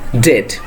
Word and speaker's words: debt: So the pronunciation first one will be debt, not debt, it will be debt.